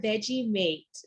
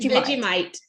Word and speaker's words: Vegemite: so a follow-up question what are veggie mates and did i say it correctly veggie bite but vegemite yeah it's like um